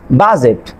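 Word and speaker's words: budget: এর পরে এন বা জি থাকলে ডি লেটারটি সাইলেন্ট থাকবে। এখানে খেয়াল করেন বাজেট, ব্যাজ, ডি এর পরে জি আছে।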